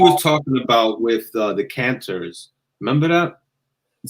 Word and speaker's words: cantor: like like something else a canter is like the spanish word kantar like singing it literally means to sing um so it's spelled with with the first letter c for cat a r s cantor so these these go